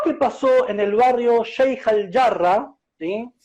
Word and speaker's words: Sheikh al-Jarrah: Y estaría bueno que se pronuncie como corresponde, Sheikh al-Jarrah, ¿sí? Porque realmente ese es el nombre que le corresponde, no, digamos, pronunciar localidades extranjeras con un tono anglosajón.